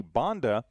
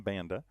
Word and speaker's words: Banda: with the lefty Miley Bonda. So Banda was just informed that's how she pronounced her name, Banda.